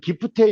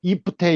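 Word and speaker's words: gifte: 거를 이제 결혼한 부부다 이렇게 얘기하는데 그 이제 스웨덴 같은 경우는 영어는 이제 기프테 이렇게 돼 있는데 거기는 이제 발음이 이프테 이렇게 되더라고요.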